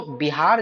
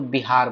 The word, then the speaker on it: बिहार: व को वो लोग ब उच्चारण करते थे, तो बिहार बोल दिए।